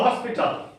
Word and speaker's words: hospital: For example, hospital. Hospital. Hospital. There are three syllables. And where shall we give the stress? Hos. First syllable. Hospital. Because the word ends with L.